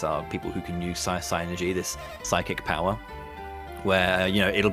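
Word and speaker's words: Psynergy: But synergy is the magic in this world, or you can pronounce it synergy if you want, but I've always read it as psy-energy, so synergy.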